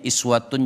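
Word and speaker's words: إِسْوَةٌ: Kalau kita kembalikan ke ayat 21 ini, laqad kana lakum fi rasulillahi, ada yang bacanya uswatun boleh, ada yang bacanya iswatun juga boleh.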